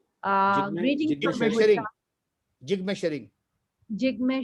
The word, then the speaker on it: Jigme: I'm sorry, I can't pronounce the name. Greeting from Bhutan. Jigme Jigme.